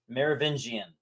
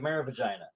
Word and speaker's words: Merovingian: Merovingian. It's a really hard name to pronounce, but when he was saying it, he's like Merovagina, and I'm like writing